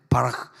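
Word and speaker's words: בָּרַךְ: 복을 갖다가 바라크라 그러는데 바라크 크가 이제 독일어의 CH 발음이 여러분이 벤츠차 굴러다니 것 그 제일 벤 벤 비싼게 마시 바흐 그 바흐 그러잖아요 흐 그러잖아 흐 바 마시 바흐 이렇게 그런 것처럼 바라 바라 바라 크가 아니라 바라크 시작 바라크 바라크 할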